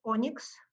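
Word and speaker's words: ONNX: open neural network exchange or nnx which is pronounced as onyx and that is a new format that is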